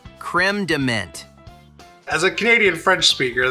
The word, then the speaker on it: crème de menthe: proper pronunciation, which is creme de menthe. So you got the creme, you got to roll your R's like a Frenchie, creme, and then it's